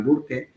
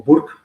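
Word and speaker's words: Burke: entrevistarlo varias veces, o el cardenal Burque o Burk, depende como se quiera pronunciar.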